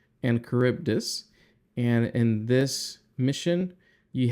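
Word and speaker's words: Charybdis: mission called Sila and cibus that's how you pronounce this Sila and caribdis and in this Mission you have the choice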